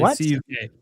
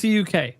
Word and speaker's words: CUK: It's like cook.